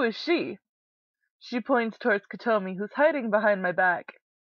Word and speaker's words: Kotomi: KOTOMI, hiragana 3つ de, KOTOMI. 3 syllables, KOTOMI.